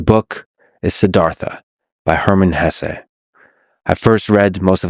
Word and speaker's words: Hesse: It was written by Hermann Hesse, and by the way, please allow me this pronunciation of his last name. I've heard some people say Hess, but my whole life I've always said Hesse.